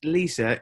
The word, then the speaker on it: Lesa: But another question, I think it's pronounced Lisa. It's spelled Lesa, Hannigan.